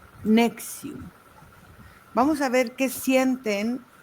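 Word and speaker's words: NXIVM: con ese nombre que el nombre es N. X B M y se pronuncia nexium.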